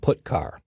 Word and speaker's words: putchar: The 2 most common C language character I/O functions are getChar and putChar. That's how I pronounce them.